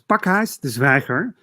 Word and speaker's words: Pakhuis de Zwijger: Yeah, you said so it's Pakhuis de Zwijger.